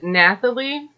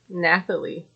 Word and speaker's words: Nathalie: see where that goes they move on to Natalie Nathalie I'll say it right Nathalie and she is